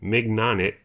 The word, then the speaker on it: mignonette: I would pronounce it mignonette. That's how it's spelt.